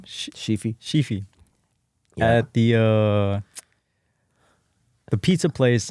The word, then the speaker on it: Sheefy: So, because he was talking about, he just did a collab piece, a mural with how do you pronounce his name? Sheefy.